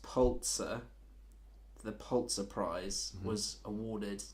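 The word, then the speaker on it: Pulitzer: I say it right I think it's pronounced polt sir the polt surprise was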